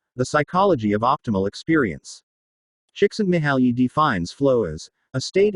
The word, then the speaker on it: Csikszentmihalyi: Mihaly Csikszentmihalyi, pronounced Mihai Csikszentmihalyi, is a Hungarian psychologist and